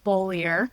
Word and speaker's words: Beaulieu: So, my name is Bolier, which would be the main pronunciation.